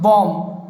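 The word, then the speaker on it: bomb: For example जैसे यदि देखें बॉम्ब, बॉम्ब में यदि देखते हैं हम लोग तो क्या होता है? बॉम्ब। तो यहाँ पर आप लोग देख सकते हैं कि इसको पढ़ा हमने BOM, लास्ट वाला बी साइलेंट है, फर्स्ट नंबर वाला बी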